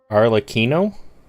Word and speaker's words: Arlecchino: Well, I said that after Mose told me to say it like cappuccino, but Unicorn still told me it was wrong.